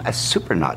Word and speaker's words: Surprenant: Joe Blasco here with Tom Surprenant. Now, right off the bat, all right, we got to get the pronunciation of the name right.